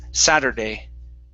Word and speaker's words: Saturday: word sadder okay so instead of s um yeah we need to hit the tongue nice and hard at the top of the mouth satur saturday saturday good good one more time